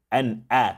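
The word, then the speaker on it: أَنْعَمْتَ: An'a. If you say a, it comes from here. It doesn't come from here. An'a. You should feel it here.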